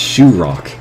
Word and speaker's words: Chirac: I guess that means we need to make a Chirac. There. Now we've got Mr. President himself in the park. And he's even heading for that ride. It's pronounced Shoe Rock.